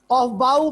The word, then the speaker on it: Aufbau: नाम प्रोनाउंस करें ऑफ बाउ। कुछ लोग कहते हैं इसको ऑफ बू, ऑफ बू इसको प्रोनाउंस करते हैं इस तरह मैं उर्दू में लिखता हूं ऑफ बू, ऑफ बू। और बच्चों मैं इसको प्रोनाउंस करता हूं ऑफ बाउ, ऑफ बाउ।